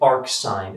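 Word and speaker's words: arcsin: You can also say arc sine x, and you've pronounced this, well, technically you'd say sine inverse, but you can see this read as arc sine.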